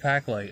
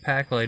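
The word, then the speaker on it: Paqlite: powder and some of the nuggets from UV Packlight, and that is spelled UV Packlight is spelled P-A-Q-L-I-T-E, and they make glow-in-the-dark powders for all kinds of things.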